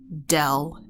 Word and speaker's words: del: the same thing as del F okay this symbol here is that is pronounced del Del F is a